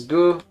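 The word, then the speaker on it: ぐ: This is gu. Yeah, it's like ku, but you add the marks.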